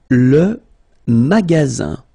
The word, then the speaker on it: magasin: Le magasin. Le magasin. Okay, remember, you've got only one S between two vowels. Then you get the sound Z, all right?